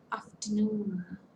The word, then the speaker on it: afternoon: it has three syllables afternoon among these three syllables the third syllable is getting stressed and we can observe